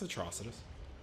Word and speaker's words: Atrocitus: like I was saying his name wrong it's Atrocitus like atrocity yeah and look at